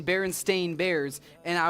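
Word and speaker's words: Berenstain: Now, it was spelled it was spelled Baronstein. It was pronounced Baron Stain. No, no, no, no, no. Yes. No, no, no. Yep. It was always pronounced Baron Stain.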